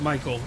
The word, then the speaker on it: Michael: It's Mike with an L. With L. Oh, so it's Michael. It is Michael.